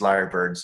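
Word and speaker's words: lyrebird: are incredible mimics so even though it's spelled i y r e like like the tail like the instrument they are kind of like liars because you can hear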